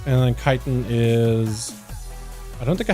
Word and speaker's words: chitin: I need to get gloom chitin. Apparently it's called chitin, not chitin.